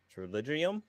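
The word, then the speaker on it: pterygium: my eye called a triligium. I have to actually look up how to pronounce it because it's like it's spelled with a P. It starts with a P, but the P is silent.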